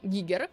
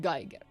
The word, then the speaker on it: Giger: Like, bro, it's like people who were researching and covering Giger art stuff and were keeping the pronunciation at Geiger.